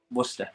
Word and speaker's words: Worcester: Worcester. You're from? Like Worcester sauce.